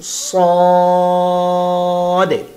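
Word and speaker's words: صاد: উচ্চারণ হবে সাদে, সাদে।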